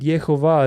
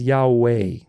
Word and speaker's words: Yahweh: Sun you realize that yehovah is actually an inversion it's an inversion of the actual pronunciation of God's name because God's name is Yahweh yah so the vowels it's all vowels it goes a a right so it goes a a yah the Jewish rabic tradition